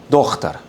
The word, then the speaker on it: daughter: Entonces, si alguien se pregunta por qué se escribe con GH, es porque hay regiones donde se pronuncia Dochtar.